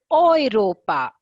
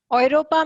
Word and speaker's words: Europa: of touch e so anything like which starts with an uh digraphs e and u together it does the uh pronunciation goes like oh i oil yeah it's oiro and oi ropa europa means oi ropa europa very